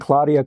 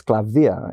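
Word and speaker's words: Klavdia: Well, cuz people think Claudia Claudia, you know, but it's Clavia.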